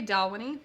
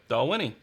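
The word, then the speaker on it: Dalwhinnie: I think it's called I want to say Dawa knee but I think it's called something else I don't think that's how you pronounce it is that right doll can someone please fanatically help ya doll Winnie yeah all right thank you he already knew doll Winnie so this is winters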